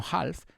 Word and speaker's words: half: No pronunciamos la L, no half, sino half.